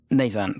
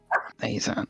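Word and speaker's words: Nayzan: Okay, I've written that roughly phonetically. I've written it in the chat. Oh, amazing. Nazan, thank you. Nazan, N-A-Y-Z-A-N.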